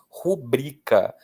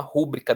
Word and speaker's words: rubrica: Rubrica. Muitas pessoas falam: "Ah, vou fazer uma rúbrica da minha assinatura, que é aquela versão mais curta da assinatura". Mas a pronúncia é rubrica.